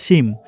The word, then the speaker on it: সিম: মানে একদম অন্যরকমের লাগছে ছিম আমরা ছিমিমই বলি বাট এটার অরিজিনাল নাম হচ্ছে সিম তো এইভাবেই তো এর